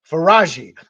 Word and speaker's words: Faraji: for for I want to make sure I pronounce correctly f f I wrote it down okay faraji okay so so faraji is uh alleging that